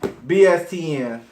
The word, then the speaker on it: BSTN: Yes, BSTN.